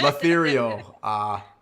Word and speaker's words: Letherial: It rhymes with ethereal. Ethereal. No, don't say that, because then I'm going to start calling you that. Letherial.